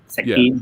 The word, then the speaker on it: Shek Kin: The end fight with him and was it Shek Kin? Did I say it right, Alex? Help me out. Sekin, yeah.